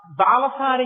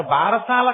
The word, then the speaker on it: బాలసారే: గబగబా తల ఏదో ఆ బాలసారి చేసి చెప్తుంటారు భారశాల కాదు బాలసారే బాలసారే అంటే బాలునకు ఇస్తున్న సారే కాలు దాన్ని భారశాల భారశాల భారశాల ఎంత భారమైనా ఎక్కించారు అసలు దాని ఉచ్చారణ బాలసారే బాలసారే యందు ఆ ప్రసన్నమైనటువంటి తల్లి